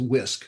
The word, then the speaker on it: WISC: And then you submit online at and Muhammad, we pronounce Wisconsin as WISC.